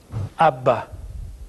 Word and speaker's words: Abba: or a more proper way to say it ABBA or the word would be daddy so Aleph